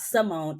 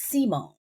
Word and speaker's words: Simone: Your name is not Simone, it's Simone.